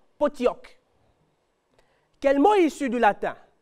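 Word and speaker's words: Pottok: dans certaines autres graphies vous verrez P o t t o K et vous lirez dans l'un ou l'autre cas potioc il n'y a pas de i d'écrit mais on le prononce en le lisant potioc quel mot issu du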